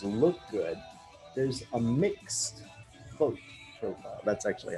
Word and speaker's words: Voigt: Right, so that doesn't, but you know, to really make this look good, there's a mixed Voigt profile. That's actually how you pronounce that.